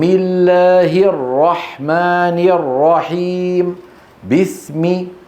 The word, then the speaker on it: بسم: بسم الله الرحمن الرحيم. بسم، ولا تقل بس. بس هذه كسرة ناقصة.